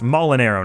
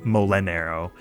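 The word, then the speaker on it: Molinaro: their character's full name it's molinero not molenero i don't even really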